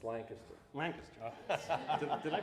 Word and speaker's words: Lancaster: my friend Sean Bradley Sean Bradley is a Lancaster B based sculptor wa I have I have to correct you it's Lancaster Lancaster did I pronounce it wrong again I